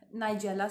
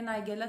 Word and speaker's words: nigella: कलौंजी black seeds होते हैं और इसका बायोलॉजिकल नेम है नाइजेला सीड्स। नाइजेला सीड्स कह लें, नाइगेला सीड्स कह लें, डिफरेंट लोग डिफरेंट तरीके से प्रोनाउंस करते हैं, ठीक है, होते हैं।